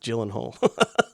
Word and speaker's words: Gyllenhaal: I don't want to create another uh Sean Crawford moment but it's pronounced Gyllenhaal.